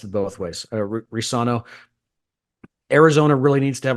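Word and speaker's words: Reescano: ESPN's pronounced it Risano. I think the C is silent. Yeah. Okay. ESPN, of course, pronounced it both ways. Risano.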